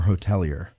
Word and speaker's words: hotelier: Now you're a third generation hotelier. Is that how you pronounce it? Yes. Or hotelier?